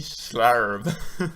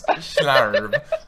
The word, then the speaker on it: Schlarb: So can we pronounce last name? Schlarb. Can you? Miss Schlarb.